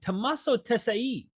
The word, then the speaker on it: Tommaso Tesei: And today I have Professor, and I hope I don't butcher the name, Tommaso Tesei.